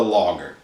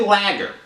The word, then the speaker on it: lager: most popular especially here in america is the logger now if you say lagger some people say lagger don't say lagger all